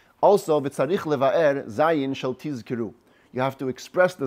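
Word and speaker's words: תזכרו: Some people make a mistake. They say tizkiru with a sin. That's misproper pronunciation. You have to say zzz. Hear the Z sound.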